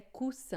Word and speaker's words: coussin: E aqui, né, coussin, a gente coloca 2 S's para fazer o som de S.